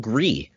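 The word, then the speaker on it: Gris: only on pc and that's a game called gree my wife uh made sure i could pronounce this correctly because it's actually fantastic i'm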